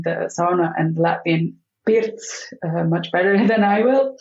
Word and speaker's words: pirts: the differences between the sauna and the Latvian pirts much better than I will. Okay. Yes, we call it the pirts here in Latvia. How do you spell that? Pirts.